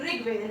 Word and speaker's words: ऋग्वेद: ठीक है, अब देखिए री से देखिए री प्रोनाउंस करेंगे तो ऋग्वेद, री निकल के आ रहा है ऋग्वेद।